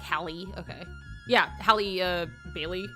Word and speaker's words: Halle: it's Hallie right like Hallie okay yeah Hallie uh Bailey right yeah double check I'm just bad at remembering names anyway um Hallie Bailey uh was like her voice is so